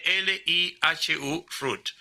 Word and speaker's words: Elihu Root: Búsquense el nombre, se escribe Elihu Root, o sea, como si fuese raíz en inglés, Elihu, o sea, Elihu, o sea, Lijo. o sea, Elihu Root.